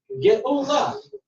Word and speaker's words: Geula: Just stick an aleph in there. Geula. Geula. One aleph.